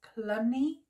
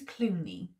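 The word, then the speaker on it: Cluny: in The Priory of I want to pronounce it as colony I don't think it's Clooney I'm not but I think it's clunny in France 1129 Henry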